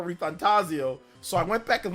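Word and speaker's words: ReFantazio: metap for reantaso but metaphor reantaso I thought it was like that but no metap for ref fantasio so I went back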